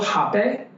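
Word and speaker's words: rapé: I said, do you mind if I give you a little hape? Something we work with is something called hape, spelled with an R-A-P-E with an accent.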